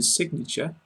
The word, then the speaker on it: signature: In signature, pronounce the G.